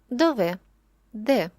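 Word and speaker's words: dov'è: де знаходиться замок Хаула ось цей наголос наприкінці слова нам говорить що це поєднання петального слова дове і дієслово ессере які об'єднуються в одне ціле дове тож коли ви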